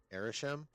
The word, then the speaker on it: Arishem: Arishem? Oh, Arishem is how they pronounced it? Okay. So, long A, but I was closer. I was saying Arishem, but it's Arishem, but it's not Arishem.